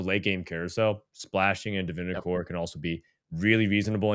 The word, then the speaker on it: Divinicorp: good, so I'll go Divinicore. Divinicorp. I don't know. How do you say it? Divinicore is how you say it. The P is silent, and you are correct.